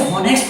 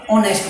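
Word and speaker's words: honest: ठीक है, और इसी तरीके से एक वर्ड और है आपका ऑनेस्ट। इसे हॉनेस्ट नहीं बोलते, क्या बोलते हैं, ऑनेस्ट बोलते हैं। ऑनेस्ट उच्चारण है इसका पहला अक्षर है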